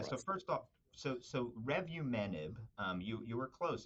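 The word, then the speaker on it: revumenib: patient care yeah so first off so so revu menb um you you were close it's actually you know I think your pronunciation was was was close to Target but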